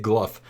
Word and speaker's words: Glough: glu's first two phases apparently you say it gluff I've been pronouncing it Glow my whole life when I've been doing the other uh gnome quests but apparently it's gluff I've heard the jods